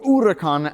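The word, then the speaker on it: Huracán: on costs and so we got the Lamborghini Huracan or or urakan as it's more properly pronounced this C derives its name from a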